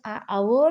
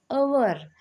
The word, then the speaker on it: hour: Look at here, although this hour starts with the letter h which is consonant, but we use an before it because it having a silent letter h before it, but it starts with the vowel sound hour, like that.